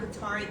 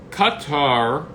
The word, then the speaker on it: Qatar: So Qatar or Qatar. I mean, there's various pronunciations. Qatar. I say the American. Qatar. I say the Americanized version. There's many ways to say. I mean, in the official Arabic, it's a Qatar, but I think we go with Qatar.